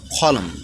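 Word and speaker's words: column: মানে অগ্রাহ্য করা এন্ড সলিন মানে একাগ্রতা এন্ড কলম মানে হচ্ছে কলম এরপরে ফি যে লেটারটি বিভিন্ন ওয়ার্ডে সাইলেন্ট থাকে সেটি নিয়ে আলোচনা করবো চলুন সামনে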